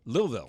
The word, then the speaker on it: Louisville: And he always made sure to tell me that he was from Louisville. Did I say it right? Louisville.